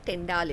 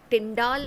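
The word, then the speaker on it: Tyndall: टिंडाल इज़ the correct pronunciation, लेकिन हम लोग जो लेमन लैंग्वेज में बोलते हैं इसको टिंडल इफेक्ट बोल देते हैं।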